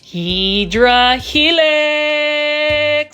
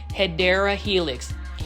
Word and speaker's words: Hedera helix: Hydra Helix, or the correct way to say it, let's do it again, right? Hedera Helix.